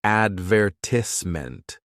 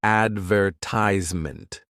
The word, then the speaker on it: advertisement: words like advertisement, it sounds almost like advertisement, which just sounds so much more serious, doesn't it? But in American English, we say it more like advertisement, which sounds quicker and lighter.